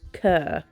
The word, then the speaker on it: cœur: I googled how to pronounce it, and it's the French word for heart, cœur, like the way they pronounce sister is sir, isn't it?